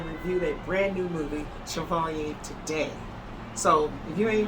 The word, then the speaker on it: Chevalier: slow that word up French the pronunciation that I looked up was Chevalier so anyway Chevalier was